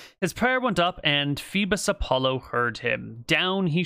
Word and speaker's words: Phoebus: Phobos Apollo. H-O-E. No, it's Phoebus, another epithet of Apollo. Okay, so Phoebus Apollo is just Apollo. His prayer went up, and Phoebus Apollo heard him.